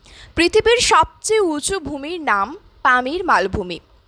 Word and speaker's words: Pamir: সবচেয়ে উঁচু ভূমির নাম পামির মালভূমি স্থানীয় ভাষায় এর উচ্চারণ হচ্ছে পমির যার অর্থ হচ্ছে সূর্যের